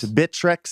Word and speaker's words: Bittrex: whatever for bid Rex bittreck how do you pronounce that exchange bittrex thank you gone bittrex well they're not out